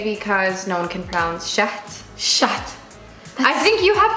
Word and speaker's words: Shahd: the shade but tell me exactly how to pronounce it everybody says Shay because no one can crowns shut shut I think you have to except for